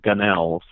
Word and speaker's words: Gunnells: the time too well most people want to pronounce that gun l's and that just happened so much so that just accepted it as an alternate pronunciation I guess it's that